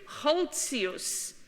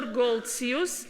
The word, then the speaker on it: Goltzius: Before Rembrandt, Hendrik Holtzius, or Goltzius, as in English he's sometimes pronounced.